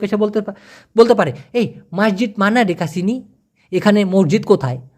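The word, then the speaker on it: masjid: দোকানের বদলে দোকানের বদলে মসজিদের কথা বলেন মসজিদের কথা বলেন সেক্ষেত্রে মালয়েশিয়ান না মসজিদকে বলে মাসজিদ মাসজিদ উচ্চারণ বানানটা এরকম হবে এম এ এস জে আইডি মাসজিদ মানে এস কে ওরা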